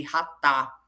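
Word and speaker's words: חטא: Mas quando eu olho para a palavra pecado no hebraico, a palavra pecado no hebraico, ela tem o sentido de ratá, né? Que se escreve chatá.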